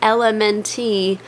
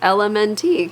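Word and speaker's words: LMNT: let me know that the elemente electrolytes is actually pronounced element which I wish they could have just spelled out but it was not obvious to me I was like oh it's l MNT cuz the letters are l m is that how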